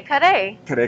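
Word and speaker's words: kare-kare: And this is called the kare kare. Kare kare rice bowl. Exactly. Beautiful. That's beautiful. You got the... I think I said it right. You rolled those R's really well.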